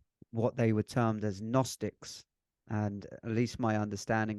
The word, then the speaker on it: Gnostic: they were termed as gnostics and at least my understanding of that now which is actually spelled with a G for anyone that's looking to research it which is g-n-o-s-t-i-c Gnostic and they would often